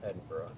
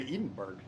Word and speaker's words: Edinburgh: I'm actually not from Edinburgh and she's like considering how well you pronounce that I can tell because you didn't say Edenberg uh because if you've